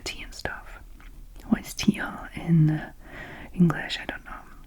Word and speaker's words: tilleul: Oh no, I thought I said juillet. It doesn't, it says tilleul.